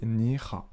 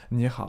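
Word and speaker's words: 你好: Donc bonjour en mandarin ça se dit ni hao, ni hao.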